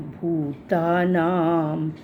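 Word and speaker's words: भूतानाम्: हूं भवाप्य यऊ ही भूत नाम भूता नाम में भ को बड़े ऊ की मात्रा है। लंबी आवाज होगी यहां पर और भूता नाम पे हमारा फर्स्ट पार्ट खत्म होता है।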